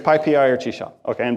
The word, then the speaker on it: PyPI: It is pronounced PyPI, not PP, not Pippy, not PyPy.